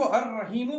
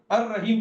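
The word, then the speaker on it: الرحيم: लेकिन जब मैं रहीम रहीम को अर रहीम पढ़ रहा हूं तो लाम साइलेंट हो गया। है ना? तो बहुत बार आपको अरबी में ऐसे लेटर्स मिलते हैं यानी कुरान में जो हम पढ़ते नहीं है। हम यहां से सीधा जो है वो अर रहीम पढ़ते हैं इसको। वो क्यों पढ़ते हैं हम अर रहीम? क्योंकि लाम साइलेंट हो जाता है।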